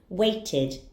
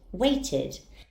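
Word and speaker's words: waited: the e d ending Ed anding will be pronounced as ID weighted weighted very easy isn't it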